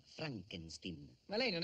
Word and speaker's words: Frankenstein: una domanda Dottor Frankenstein si legge Frankenstein come prego il mio nome si pronuncia Frankenstein ma lei non è